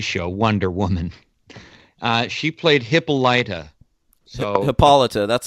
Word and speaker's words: Hippolyta: Well, I'm just giving you the pronunciation of the comic book character that she was playing. Hippolyta.